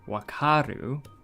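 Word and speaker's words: 分かる: So I'm sure people will remember if you pair this with the katakana, not katakana, hiragana karu for wakaru, you would pronounce it as wa. Wa for wakaru. So we can have that as this.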